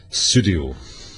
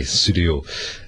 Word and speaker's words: Pseudio: Now, one of my other favourite tracks is Pseudio. Oh, yes. Yes. And obviously you can't tell in my voice how it's spelled, but it's Sud, as in P-S-E-U-D, as in Sud's Corner from Private Eye, Pseudio.